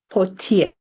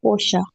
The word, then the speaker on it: Portia: Portier. Is that the correct pronunciation? You may proceed. Oh, it's actually Portia.